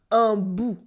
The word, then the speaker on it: un bout: une bribe became un bout with a silent T. Un bout, un bout.